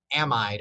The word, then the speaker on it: amide: in order to create an amide or amide, whichever way that you want to pronounce it.